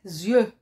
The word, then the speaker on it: yeux: l'es7 une lettre miette des yeux s x des lettres muettes qu'il ne se prononce pas c'est le pluriel 2